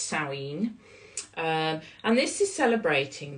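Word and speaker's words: Samhain: spelled s m ha a i n but pronounced sinen um and this is celebrating the new year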